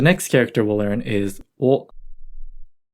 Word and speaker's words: を: The next character we'll learn is o, o, o. Note that o is usually romanized as wo, but it's pronounced o like the o vowel sound.